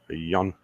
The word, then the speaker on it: Jan: The J is a Y. Jan.